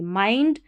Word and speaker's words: mind: है हमको, द माइंड MIND को मिंड नहीं पढ़ेंगे, माइंड to regain GAIN regain